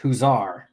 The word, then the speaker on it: Huizar: that could probably help it's pronounced huzar all right huzar huzar